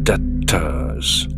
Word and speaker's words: debtors: 이때 be는 발음하지 않죠. debtors.